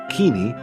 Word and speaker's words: Kinney: Charles M. Kinney, or as some in earlier years pronounced it, Keeney, was born a slave in Richmond, Virginia in 1855.